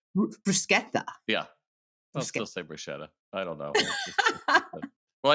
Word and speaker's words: bruschetta: say it correctly and how is the right way to say it bruschetta yeah I don't know